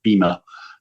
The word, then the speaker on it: Beamer: So at some point it was called the Beamer, which was its code name, which Americans say Beamer, but Germans say Beamer, Beamer. And I realized that they were talking about the same car, and I thought, oh, okay.